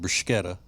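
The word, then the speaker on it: bruschetta: when I pronounce it brushetta which is the proper Italian pronunciation of the word you know when else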